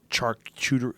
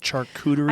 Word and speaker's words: charcuterie: mean there's there's organically grow or organically created charcuterie how do you say it charcuterie just learn this word charcuterie charcuterie it's basically salami mortadella that kind of